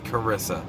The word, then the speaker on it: Carissa: It was Carissa. The H is silent because we can't spell in America.